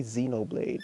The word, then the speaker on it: Xenoblade: say it that way you just say xenoblade like the x is silent so yeah i'm trying